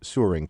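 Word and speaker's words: Søren: stumble across this strange 19th century Danish name pronounced Surin kierkegor and wonder what's up to make matters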